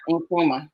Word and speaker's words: Nkrumah: Nkrumah.